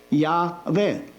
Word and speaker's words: Yahweh: When the Christian read the Bible, he will pronounce it the way the letters suggest. Yahweh. These are the sounds of the letters.